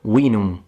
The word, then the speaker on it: vinum: How do we know that the V does not sound like a V, but it sounds like a W, like in vinum, veterius? Now this can sound strange to modern day Romance language speakers, and as an Italian it would be more natural for me to pronounce it like a V, but the Romans didn't.